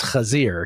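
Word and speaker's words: חזיר: Yes, except correctly pronounced. It's Kazir.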